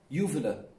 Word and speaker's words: uvula: So they are going past the Excuse me, can one person, just one, tell me the exact pronunciation so that I can always mention it? Uvula.